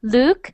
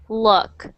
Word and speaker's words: look: you were reading it it soundss more like an o sound like Luke and I want it to sound like o look look oh look look luck not luck so this is luck